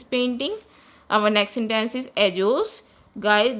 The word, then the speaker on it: ellos: Our next sentence is ellos. Guys, double L is pronounced as J in Spanish, so it is pronounced as ellos.